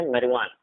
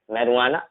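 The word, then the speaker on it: marijuana: जे generally silent नहीं होता है, ठीक है, लेकिन दो ऐसे वर्ड है जिसमें जे साइलेंट आपको देखने को मिलेगा। जैसे इसे हम पढ़ते हैं मैरिजुआना, ठीक है, अल्पिनो, मैरिजुआना, अल्पिनो।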